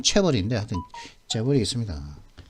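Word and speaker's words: chaebol: 발음은 체벌인데 하여튼 재벌이 있습니다.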